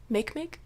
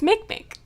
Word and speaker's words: Makemake: use with quotes is Makemake I'm fairly certain that that's not how to pronounce that it's Makemake all right we'll go